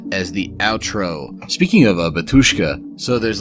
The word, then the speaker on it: Batushka: to be the real Batushka. I guess you pronounce it like there's a Y in there.